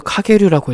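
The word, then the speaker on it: Kage-ryū: 영류는 일본어로 카게류라고 읽어.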